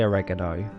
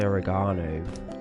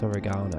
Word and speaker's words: oregano: I don't say oregano. I say oregano. It's oregano.